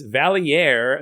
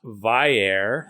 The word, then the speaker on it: Valliere: on social media and yes it is valiere not viair will someone please tell that goof nsp to stop butchering his name the guy is canadian not hispanic so i don't get why he'd pronounce a double l like a y anyway it's fair to